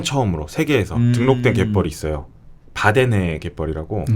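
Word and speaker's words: Wadden: 바데네 갯벌이라고. 네. 이게 우리나라에서는 흔히 와데네라고 부르는데 네. 현지 발음으로 하면 바데네입니다. 바데네. W로 시작해가지고 W로 그렇죠. 시작하고. 와데네라고. 예. 북유럽 쪽은 W를 V로 맞습니다. 네. 발음하는 거죠.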